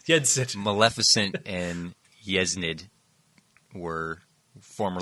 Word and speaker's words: Yensid: Oh, so she is how you say Disney backward? Yeznid. Yeah, whatever. Sid. Yensid. There it is. You're saying Yensid.